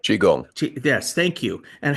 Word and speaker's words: Qigong: regards to Tai Chi and Qi Gun. I think that's how you pronounce it. Is it? Qigong.